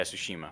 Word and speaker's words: Tsushima: I don't want to say that name wrong. Yeah, Tsushima. I almost said something else. Yeah, Ghost of Tsushima.